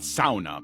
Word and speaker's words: sauna: bring it up, yes, I pronounce it sauna because I come from a very Finnish part of Minnesota.